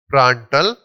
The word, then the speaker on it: प्रांटल: ये होगा हमको, डी साइलेंट रहता है, प्रांटल नंबर, ठीक है।